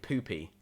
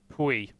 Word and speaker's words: Pui: It is technically Pui. Okay, so that's the pronunciation. I've spoken to him. I've chatted with the guy. He said, "You know what? Can we Pui? That's fine, but Pui." There's a little accent going on in the I, which I think makes you Pui. change the way that you pronounce it a little bit.